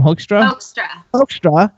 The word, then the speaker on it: Hoekstra: How do you pronounce his name? Hoekstra.